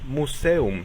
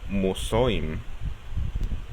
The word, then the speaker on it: Museum: Pero ojo, si una palabra tiene esta combinación pero es separada por sílabas, entonces el sonido se cancela. Por ejemplo, la palabra museo, museum, se separa en 3 sílabas y por tanto se separa la unión EU, por lo cual se pronuncia museum, no musoim.